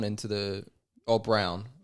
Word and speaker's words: Braun: Yeah, but they've moved Braun into the... Oh, Brown. It's weird. It's spelled It's Braun, isn't it? No, but they pronounce it Brown.